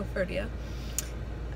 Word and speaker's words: Koforidua: So we are just about to head out to Koforidua. Is that how you say it? Mm-hmm. Koforidua.